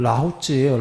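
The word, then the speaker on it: 老子: 나와요 부탄은 아들 자예요 그 노자 할 때 자도 아들 자예요 그걸 라오쯔예요 라오쯔 초기 경전에서는 부처님께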